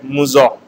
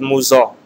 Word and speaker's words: Mousseux: The first term is pronounced as Mousseux. Again I am repeating, first term is Mousseux.